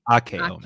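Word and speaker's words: あけおめ: Akeome, as they say in Japan. Ageome. Did I say it right? Akeome. Ake. Akeome.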